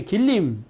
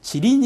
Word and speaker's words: 지린: 이 줘 그 다음에 길림 지린 이라고 하죠 중국 발음으로 지린 성 을 포함하는 만주